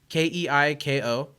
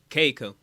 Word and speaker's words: Keiko: always on this list Kiko is it Kiko what are the letters k-e-i-k-o Keiko Keiko in Japanese you pronounce every vowel interesting okay and the